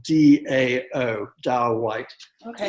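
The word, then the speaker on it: Dão: this wine which is a dao white um it's spelled d-a-o dao white okay it's region dao is a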